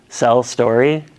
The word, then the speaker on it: clerestory: Things that make this building unique are the, I forget the pronunciation, clerestory? Cell story. Sa? Cell story. Go ahead, try again. Cell story. Cell story?